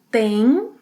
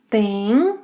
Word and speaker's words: tem: Você, ele, ela, a gente tem, tem nasal sound. Vocês, eles, elas tem, tem. Tem and tem have the same pronunciation.